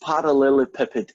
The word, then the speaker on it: parallelepiped: is I think it's gone e well it's pronounced parallelepiped anyway and what in the heck is it